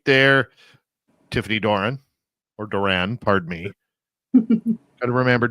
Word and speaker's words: Doran: Tiffany Doran or Duran, pardon me. Got to remember Duran. Duran.